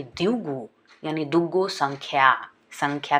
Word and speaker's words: द्विगु: द्विगु शब्द को यदि हम प्रोनाउंस करें उच्चारण करें द्विगु का तो ऐसा लगता है दुगु।